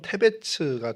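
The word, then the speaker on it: תבץ: 히브리어로 데베스는 뭐 발음을 히브리어상으로 하면 테베츠가 되는데 그 뜻이 창백함, 뭐 하얀, 뭐 이런 의미를 갖고 있고요.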